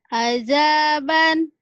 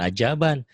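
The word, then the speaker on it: عذابا: Azaban. Bukan ajaban. Itu mah orang Azza. Betawi. Terlalu rapuh. Zal.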